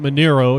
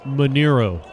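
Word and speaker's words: Manaro: Manero, excuse me. Spelled M-A-N-A-R-O, but it's pronounced Manero.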